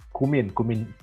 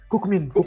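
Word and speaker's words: Kookmin: Kayaknya kemarin aku salah ini bilang kan, kalau di sini kan bacanya Kukmin itu kan Kumin itu Kumin University. Nah, terus aku bilangnya Kukmin ya kan.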